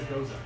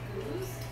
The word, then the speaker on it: Gose: me decided it's a Goza. No. Okay, so I looked this Did we? up too. So there's the Belgian style of sour, which is it's pronounced goose, Yeah.